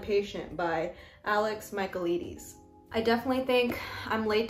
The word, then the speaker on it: Michaelides: Alex Michaelides. I had to YouTube video his name pronunciation.